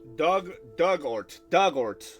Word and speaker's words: Dugort: Dugort. Not Dugort, but Dugort.